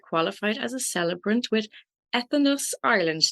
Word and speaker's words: Entheos: as a Celebrant with Entheos Ireland. Did I pronounce that correctly? Entheos Yes. Ireland. So it's you have enthusiasm. Very good.